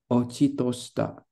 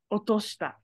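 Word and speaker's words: 落とした: Tobidashita hikari ga ishi o hataki ochitoshita. Otoshita. Otoshita. You're thinking about ochiru, but ochiru, the chi, oh sorry, ochiru, the chi is after the o. So that kanji right here is only pronounced as o.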